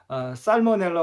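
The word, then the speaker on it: Salmonella: 그러나 살모넬라 같은 경우는 L을 발음을 합니다. 이 경우 살모넬라 같은 경우는 그 살모넬라 균을 처음 발견한 사람의 이름을 따서 살모넬라라고 했기 때문에 그 L을 발음을 하는 겁니다.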